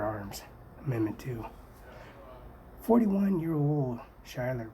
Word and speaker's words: Schuyler: amendment to 41 year-old Schuyler pronounced Schuyler sky third major general I